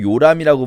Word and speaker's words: 요람: 그리고 그다음에 아하시아가 아들이 없이 죽는 바람에 둘째 아들인 요람.이 이도 마찬가지로 요람이라고 발음할 수도 있지만 여호람이라고 발음할 수도 있어요. 자, 우리는 지금 요람이라고 읽고 있습니다.